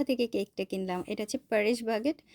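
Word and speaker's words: Paris Baguette: কেকটা কিনলাম এটা হচ্ছে পারিশ বাগেট আমরা কোরিয়াতে কোরিয়ান উচ্চারণে বলি ফারি বাগেট ফারি বাগেটে চলে গিয়েছিলাম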